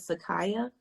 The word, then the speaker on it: Sekaya: So, am I pronouncing your name right? Is it Sekaya? That's correct.